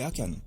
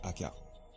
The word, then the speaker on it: Akan: Et donc Josué condamne Akan, qui est Akan, qui se prononce aussi Akar.